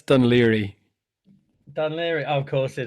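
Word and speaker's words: Dún Laoghaire: Du n is one word. Yeah. And then the second word is L A O G H A I R E. That's, you know, two words. So, can you pronounce that for me? Donawa. One more time. Dunlawa. No, it's not that. That's Dun Liri.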